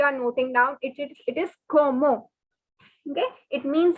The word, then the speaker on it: comment: the spelling is c-o-m-m-e-n-t which is like commend in english the pronunciation is como so forget the english word comment and remember como como it is not comment i'll repeat again please